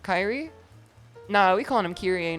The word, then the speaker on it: Kyrie: The second pronunciation is correct, Kyrie.